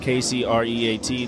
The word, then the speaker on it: KCreate: It's spelled KCreate. The K is silent.